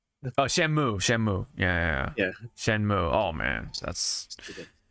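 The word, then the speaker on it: Shenmue: it's not Shu oh shenu shenu yeah yeah shenmu oh man that's it's not going to it's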